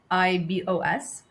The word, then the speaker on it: Rooibos: Am I pronouncing it properly? Rooibos.